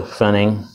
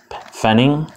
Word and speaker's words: Pfennig: PF en ni ng pfennig I'm guessing that the P is silent at least that's what I was taught in school like that I would